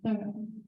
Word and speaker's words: Thoreau: I wrote a bunch of different memories about my connection with Concord, and realize that you're supposed to pronounce thorough, right?